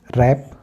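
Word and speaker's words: wrap: जाता है यानी कि डब् के बाद आर हो तो डब् साइलेंट हो जाता है तो हम किस साइ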